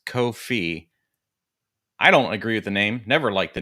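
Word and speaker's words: Ko-fi: about Co Kofi it's it's supposed to rhyme with no fee but because they have a cup of coffee on their logo people think coffee but it's kof fee I don't agree with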